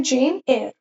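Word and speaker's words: Jane Eyre: जेन एयर, इसका pronunciation होता है जेन एयर।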